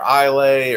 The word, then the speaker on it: Islay: um you know says islay or isla or something like that but it's pronounced isla just regular old isla just take the s out yep and the y